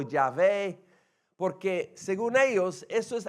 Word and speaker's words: Yahvé: el nombre de Dios Dios se reveló a Moisés con el nombre yahvé que llegó a ser pronunciado Jehová en español por un error de los traductores pero eh usamos vemos